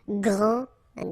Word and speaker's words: grand: Grand all right so you don't pronounce this final s okay so one more